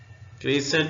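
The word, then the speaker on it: crescent: होश हवास में हो क्रीसेंट में सी साइलेंट है उर्दू में ऐसे लिखेंगे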